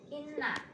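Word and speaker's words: إِنَّا: Cara bacanya kita akan merasakan getaran atau kita akan merasakan sedikit ada udara yang masuk ke pangkal hidung kita.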